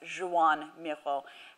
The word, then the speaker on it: Joan Miró: I don't speak Catalan, but it's my understanding that his name is pronounced Joan Miró, and so we will go with that.